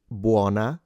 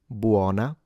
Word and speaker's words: buona: All right, for the advanced learners, note that in buana, the O is open in standard Italian diction, buana. And then in Sarah, the E is closed in standard Italian diction. So it's buana, not bu with a